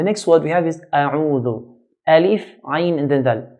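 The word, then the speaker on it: أعوذ: Alif is pronounced from the bottom part of the throat, bottom part of the throat, and ayn from the middle part. So then u, a'u, not a'u, but a'u.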